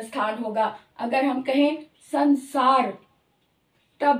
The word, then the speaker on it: संसार: इसी तरह से संसार, संसार, स दांत के पीछे से आ रही है, स की उसका उच्चारण स्थान दांत है, तो अनुस्वार का उच्चारण स्थान भी दांत ही होगा, तो इसलिए इसकी जो साउंड संसार, न साउंड आ रही है, संसार।